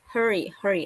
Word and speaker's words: hurry: One more time, sis bacanya kayak he hurry. Kalau Harry rambut ya. Hurry, hurry.